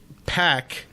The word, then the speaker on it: PAC: uh in aw they it's it's pack and i'm like oh i didn't know that i was saying it wrong this i always thought it was park when he was in